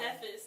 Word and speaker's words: Cephas: Cephas, not like syphilis, Oh, okay.